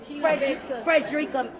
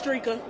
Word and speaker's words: Dreka: Frederica. My name is Dreka.